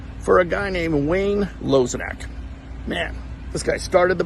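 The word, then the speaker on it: Lozinak: And the correct pronunciation is Lozenak for everyone listening out there. A lot of people don't know it's Lozenak.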